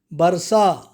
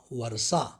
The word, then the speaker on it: वर्षा: समझ जाएंगे चंद्रमा चंद्रमा परीक्षा परीक्षा आशीर्वाद शुद्ध उच्चारण है आशीर्वाद पथवी पृथ्वी बर्षा वर्षा इस प्रकार से आप इनको सही रूप में